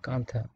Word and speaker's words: কাঁথা: নকশি কাঁথা, দেখো কাঁথা উচ্চারণ কি, KANTHA, থা, কাঁথা মানে নকশি কাঁথা। আমরা যেটাকে নকশি খাতা বলি বাংলায়, খাঁটি বাংলায় অনেক সময়, সেটা হচ্ছে নকশি কাঁথা।